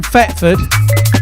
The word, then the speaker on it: Thetford: See, I'm from Thetford, which sounds like it's with an F, but it is actually spelt with a TH.